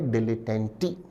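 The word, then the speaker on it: dilettante: Option A विद्यार्थी शब्द के प्रोनंसिएशन पर भी ध्यान दें। उच्चारण है डिलिटेंटी।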